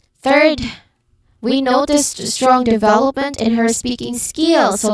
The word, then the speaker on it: development: Development. That vow in the middle is where the energy goes. Third syllable from the end.